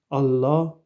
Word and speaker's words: Allah: la salle me dit il doit bien prononcer prononcer le Hamza du mot Allah et prolonger la livre qui précède le a qu'il prenne garde d'aller trop vite de manière à ne pas prononcer Allah Allah ou Allah Allah il n'y a